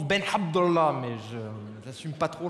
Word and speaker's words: Ben Abdallah: m'appelle Ben Abdallah ça se prononce ben abdah mais je j'assume pas